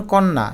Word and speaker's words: কন্যা: শব্দের মধ্যে বা অন্তে জফলা যুক্ত হলে সেটির উচ্চারণ দ্বিত হয়। যেমন কন্যা এখানে ন এর সাথে জফলা থাকা সত্ত্বেও ন দুইবার হয়ে গেল কন্যা অদ্য দইবার